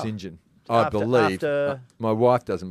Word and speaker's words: St John: okay so it's actually St John but it's pronounced singen I believe my wife doesn't believe that after